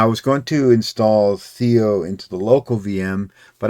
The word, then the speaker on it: Theia: Why do I keep saying Theo? Of course, it's another unpronounceable made up word. Theia.